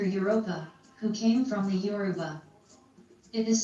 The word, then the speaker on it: Yoruba: My story became a legend, and the word Yoruba began to be mispronounced as Europa.